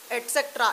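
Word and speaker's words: etc.: एंड ईटीसी मैं नीचे लिख रही हूँ, इसका मतलब होता है एटसेट्रा, इसको हम एटसेट्रा प्रोनाउंस करते हैं और इसका मतलब होता है इसी तरह के और भी सेंटेंसेस।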